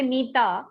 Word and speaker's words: Meeta: So in my name, if I say Meeta, so there are two sounds, me and ta. So that's two syllables.